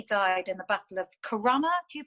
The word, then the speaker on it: Corunna: And he died in the Battle of Corunna. Do you pronounce it, historian?